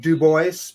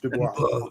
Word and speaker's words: Dubois: Some people pronounce it Dubois, but it correctly pronounced Dubois. It's very French sound, isn't it?